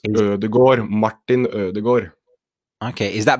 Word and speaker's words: Ødegaard: But the final part is Gård, Ødegaard. Okay. Interesting. So instead of having a sound, you're having sort of an O sound. So it's Ødegaard, Martin Ødegaard.